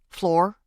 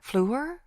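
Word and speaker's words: Fleur: Floor. It's pronounced flu, French for flower.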